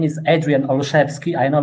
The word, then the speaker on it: Olszewski: thank you hello everyone my name is adrian olushevsky i know it's very hard to pronounce i represent the 2km zero company entirely